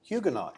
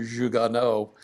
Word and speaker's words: Huguenot: Huguenot, you said. Yeah, Jugonaut. Huguenot, yes. Yes, French. Okay. As we pronounce it around here, it's probably Jugonneau, but in Southern Ohio speak, it's Jugonaut.